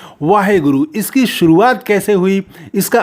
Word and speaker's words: वाहेगुरु: तो ये वाहिगुरु हम लोग इसको उच्चारण करते हैं।